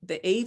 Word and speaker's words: Yve: And so it's Yve with the Yve is spelt YVE.